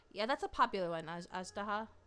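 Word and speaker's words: Azhdaha: Ajdaha. I say Ajdaya because that's how you pronounce it in a different game. But Ajdaha.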